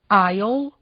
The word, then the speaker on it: aisle: Nos casos a seguir, o S e o L aparecem na palavra escrita, mas o S não é pronunciado. Ouçam, repitam e gravem. aisle, island, A classic false friend.